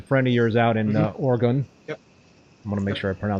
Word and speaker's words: Oregon: how do you pronounce the state? Oregon. Oregon.